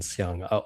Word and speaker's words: Siang: Yeah, I think it's slightly different, but you can just sort of default to the same pronunciation, Siang.